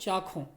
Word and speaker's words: चाखों: चाशों लिखा हुआ ये मूर्धन्य शा, लेकिन उसका उच्चारण आप अक्सर कबीर के यहाँ खा के लिए ये मूर्धन्य श प्रयोग किया जाता है इसका मूल रूप चाखों।